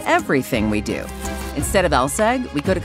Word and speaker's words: LSEG: Take ours, for instance, pronounced LSEG, aka London Stock Exchange Group.